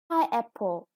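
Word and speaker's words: pineapple: and the last one pie apple and the stress is on the first syllable again and all of them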